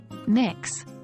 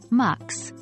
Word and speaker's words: Mx: gender-neutral title is MX pronounced as mix or mux which can be used regardless of a person's gender identity or marital status here's how it looks in a formal greeting good morning mix Smith it's best